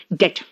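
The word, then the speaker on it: debt: ही इज इन डेट, बेटा डेप्थ हम लोग बोलते हैं डेप्थ, डेप्थ बेटा डेप्थ नहीं है, इसका प्रोनाउंसिएशन क्या पता है डेट। बी यहां पे साइलेंट है, क्या है डेट, ठीक है।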